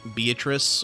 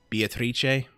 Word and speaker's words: Beatrice: with is of course beatrice or uh beatrice uh that's because that's the italian pronunciation of the name which is what they